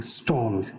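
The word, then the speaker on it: Stahl: stall or stall actually stalled s-t-a-h-l but but because it's scandinavian it's pronounced as stall it's a very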